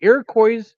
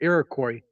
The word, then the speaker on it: Iroquois: December 30th, 1903, the Iroquois Theater Fire, or Iroquois Theater Fire, depending upon how you want to pronounce it.